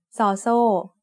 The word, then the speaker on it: ซ: ซอโซ makes an s sound like the s in sun when it's the initial sound of a syllable. And when it's the final sound of a syllable, it also makes a t stop, which is a dead sound.